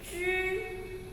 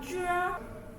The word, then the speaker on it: 知: Okay, after you touch the heart leg, don't move, and pronounce zhi. Okay, zhi. If you move your tongue, it will become zhe.